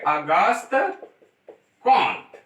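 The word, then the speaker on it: Auguste Comte: बहुत जगह पर इनको कॉन्ट कहा जाता है, लेकिन इनका जो सही प्रोनाउंसिएशन है वह है अगस्त कॉन्ट।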